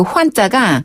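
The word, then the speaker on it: 换: 네, 바꾸다, 교환하다 할 때 그 환자가 우리 그 교환하다 할 때 환자의 발음과 똑같아요.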